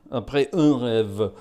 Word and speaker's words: Après un rêve: Après un rêve, I think is the actual pronunciation.